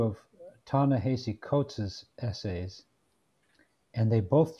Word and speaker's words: Ta-Nehisi: His first name is Ta-Nehisi, Ta-Nehisi, and his surname is Coates, Coates.